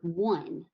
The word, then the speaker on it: one: We could also think of the example of the word one, like the number one.